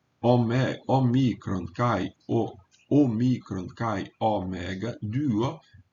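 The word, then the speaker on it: δύο: Omicron kai omicron kai omega, duo, esse y é pronunciado du. Você faz a boca como se fosse dizer um não, como se fosse dizer um u, e pronuncia um u.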